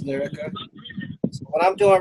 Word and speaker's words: Liryca: And how is that pronounced? Is that Liryca? Yes. Oh no. All right. Yes, it's Liryca. All right, it's Liryca.